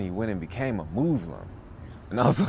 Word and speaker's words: Moozlum: And this is your first film, Moozlum? It's actually called Moozlum. Moozlum. You're supposed to pronounce the word Muslim, but I purposely misspelled